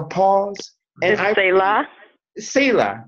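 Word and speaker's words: Selah: that whole thing of, is it Shayla the way it's pronounced? I think it's Sela, but pause. Sela, Shayla. Pause or. Yeah, like a pause. And is it Sela? Sela, right.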